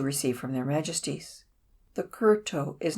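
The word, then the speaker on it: kowtow: The kurto, pronounced kurto, and meaning literally to bow the head, is used as a form of thanks, and is not a manner of greeting.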